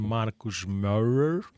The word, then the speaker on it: Marcos Maurer: E nós temos aqui na paróquia de Cascais o padre Marcos Maurer. Estava a dizer isso, foi o máximo de alemão que eu consegui com a pronúncia certa.